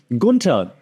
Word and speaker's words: Gunther: Right now, for example, Sami Zayn facing Gunther, der Ringgeneral. And that's how you pronounce it, by the way, because I'm German and Gunther is Austrian.